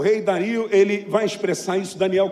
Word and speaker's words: Dario: expressar isso presta atenção algumas pessoas falam mas a pronúncia certa é Dario em Daniel Capítulo 6